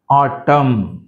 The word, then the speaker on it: autumn: solemn, dam, autumn, autumn, column, right? And these all the words n is silent.